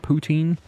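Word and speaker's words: poutine: food item is how do you say it poutin the Canadians are going to be very mad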